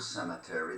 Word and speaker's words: cemetery: Many people many Polish people mispronounce the word cemetery. There's no N in it.